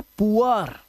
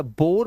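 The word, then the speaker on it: poor: Double O के बाद आर अगर आएगा तो डबल ओ का जो उच्चारण है वो उआ करना है आपको। क्या करना है? उआ। याद रखना। अब देखो यहां पर यह है पुअर। यह है पुअर। अब इसे या बोर मत पढ़ लेना।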